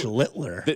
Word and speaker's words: Schlittler: Schlittler. Oh, well, he's the master. Schlittler. Now your turn. Sound like Hitler.